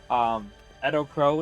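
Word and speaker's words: EDOPro: Edo Pro is actually how you pronounce it, apparently.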